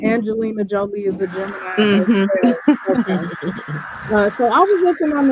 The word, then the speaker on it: Jolie: it pronounced Jolie connection Jolie like Angelina okay Jolie collection uh she a Gemini too right I didn't hear the last thing you said what'd you say I said Angelina Jolie so I was looking